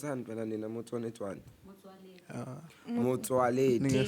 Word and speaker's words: Motsoaledi: South Africa's cannabis industry is preparing a legal action against the health minister Aaron Motsoaledi, Motsoaled, pronounce I. Pronounce Motsoaledi.